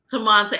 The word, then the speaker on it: Temante: Temante. That's close. Temante. Temante. I put too many syllables in there. Yeah. You had an extra syllable.